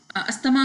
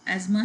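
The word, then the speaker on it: asthma: अस्थमा के patient, Urdu में अस्थमा वैसे लोग बोलते हैं, इसका करेक्ट प्रोनाउंसिएशन एजमा है.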